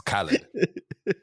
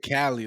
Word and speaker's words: Khaled: say his name wrong i always say his name like that i don't know why it's khalid khalid but not saying dj cali like california like oh but no